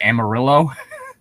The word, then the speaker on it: Amarillo: or the fact that the city of a Marie Anne Maria is usually pronounced Amarillo oh yeah it's the